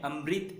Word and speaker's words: अमृत: इसे कन्नड़ में अमृत कहते हैं, लेकिन हमें अमृत इस तरह उच्चारण करना है री की मात्रा में।